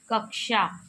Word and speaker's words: कक्षा: कक्षा शब्द का शुद्ध उच्चारण होगा कक्षा। कक्षा व ऑप्शन सी में दिया हुआ है। इसका उच्चारण कक्षा होगा। कक्षा कक्षा कक्षा शब्द का शुद्ध उच्चारण कक्षा है। छ, क और श से बनता है।